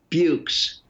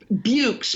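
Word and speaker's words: Buoux: books i'm not sure i would say raj bukes b-u-o-u-x it's really when i first saw the word i thought this is an impossible word but now i think it rhymes with dukes so yeah yeah that's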